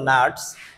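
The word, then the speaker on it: gnats: জির উচ্চারণ কিন্তু এখানে হবে না, নাটস।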